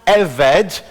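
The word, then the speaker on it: עבד: in the middle, and it's pronounced eved, and it can be written now either as ebed or eved, with a little apostrophe.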